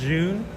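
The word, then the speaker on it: Zhiyun: smooth um it's a it's pronounced zun it's Z I always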